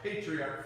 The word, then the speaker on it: patriarch: I'll spell patriarch for you. Patriarch. Patriarch. But it's pronounced arch.